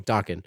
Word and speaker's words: Dokken: I always pronounce that wrong. Dokken.